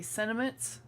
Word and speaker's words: sentiment: Someone had told um Shana that she doesn't pronounce the T when she says sentiment and I realized that I say the same thing she does. I say sentiments and it's the tea is there. It's just fast.